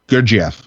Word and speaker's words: Gurdjieff: Gurdjieff? Gurdjieff.